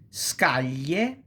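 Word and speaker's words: scaglia: and le such as scalia palia alo scolio chilia railar Millia and broadly speaking you can pronounce kind kind of like million million but is more intense is stronger is okay.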